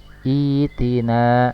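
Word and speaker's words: ائتنا: Cara membacanya adalah itina ya.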